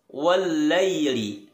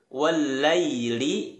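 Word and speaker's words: وَاللَّيْلِ: ryt wallaili idza yaghsya wallaili hati-hati dalam pelafalan ia sukun jangan sampai ia sukun wallaili dalam surah al-lail ini terkesan seperti bunyi huruf e-like yang betul adalah dia tetap dominan ke arah suara i-one Laili Laili Wan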